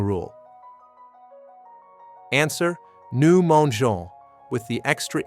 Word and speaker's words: mangeons: Students forget to add the E before ONS for GER verbs. They say nous mangeons instead of nous mendions. Remember, GER verbs need that E to keep the soft G sound.